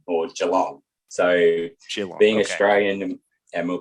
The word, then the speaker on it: Geelong: the town i live is the name is jilong or geelong so being australian and we'll probably get into